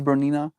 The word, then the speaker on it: Bernina: It's Bernina. Hey Google, Bernina sewing machine. Yeah. Bernina. That's the sewing machine my mom has, and my grandma has a Bernina as well.